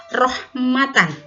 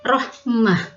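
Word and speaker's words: رحمة: perhatikan ini kalimat ini rohmatan ini Kanada katanya ketika di akhir-akhir maka bacanya bukan rohmata bukan ya ingat kaidah nya itu maka berubah menjadi hak sukun Rohmah rohmatan menjadi Rohmah Rohmah ya ikutin Rohmah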